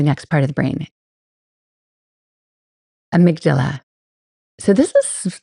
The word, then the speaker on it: amygdala: It's like Amy and then a G and then Dala.